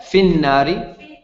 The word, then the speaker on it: في النار: Fin nari. No, connected. Fin nari.